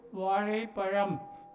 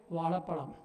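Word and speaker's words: வாழைப்பழம்: Tiruchi, all we say, we don't say Vazhaipalam, we say Vazhapalam. We say Vazhapalam. Excuse me, many of you, not myself, but mine is a correct pronunciation.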